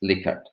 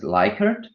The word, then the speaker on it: Likert: its inventor, psychologist Francis Likert. Lots and lots of people are pronouncing it as Likert, but as I have recently figured out, this is a mispronunciation. So Likert is the right pronunciation.